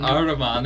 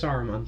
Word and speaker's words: Saruman: Are we just gonna talk about the mispronunciations? and Aruman. Aruman instead Yeah.